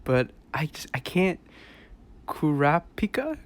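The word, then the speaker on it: Kurapika: but i just-i can't-- KU rap pika Korra pika I think is the right way to say it Cora pika or the blonde haired one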